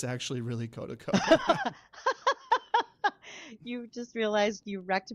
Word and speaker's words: Kotaco: Kodico Um, a lot of people like to pronounce it Kotaco, but it's actually really Kota to co.